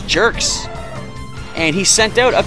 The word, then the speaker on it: Gerx: Is the G pronounced like giraffe or grand? Because if it's like giraffe, this guy's name is Gerx.